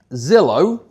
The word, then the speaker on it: Zillow: Is um Zillow. Am I allowed to say that? Okay. a lead brokerage that rhymes with pillow.